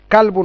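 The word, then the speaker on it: كلب: আর আর একটা কলবুন আছে, কালবুন, ওটা উচ্চারণ হচ্ছে কালবুন। ওটা কেমন হবে? কাফ লাম বা, কালবুন। এটার অর্থ দাঁড়াবে হচ্ছে ডগ।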